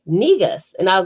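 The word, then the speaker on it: Negus: no so we you know she was like negas and i was like spell it and she was like n-e-g-u-s and it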